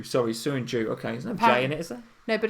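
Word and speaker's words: Söyüncü: you joined you so Jung Joo sorry soon Joo okay no but apparently you'd pronounce it with a J okay so soon G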